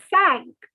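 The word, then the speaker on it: cinq: is okay five is sank sank five is sank like uh in the titanic sank in the water sank so ah sank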